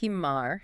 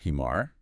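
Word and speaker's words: حمار: You used an English h. I did. You did. You were just sighing. You're letting a gentle puff of air out like hello.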